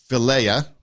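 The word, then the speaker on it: Philia: you want to uh there's the Philea that's how you pronounce it the Philly the brotherly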